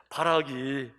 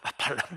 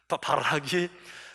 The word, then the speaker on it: 바락: 그러니 이 사건 다 끝나고 나서 바락이 발음을 잘해야 돼요. 발락 말고 바락이 다볼산 꼭대기에서 저 승리한 전장들을 다 뭉개서 그 부서진 전차 900대를 바라볼 때 바락의 마음속에, 와, 참 하나님 놀라우시다.